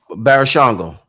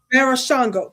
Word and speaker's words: Barashango: Pronounce his name again for me. Barashango. Barashango.